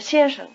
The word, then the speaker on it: 先生: listen carefully to the tone pattern of 先生, the word for Mr. 先生。先生。先生。 The first syllable is in the high tone. The second is in what we call the neutral tone.